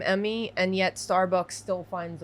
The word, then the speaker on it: Emi: I say Emi because that's how I pronounce it, but I know it's Emmy. Emi.